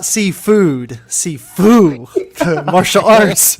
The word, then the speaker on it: Sifu: Not seafood, Sifu, the martial arts. It's actually My pronounced family was like- Sefu.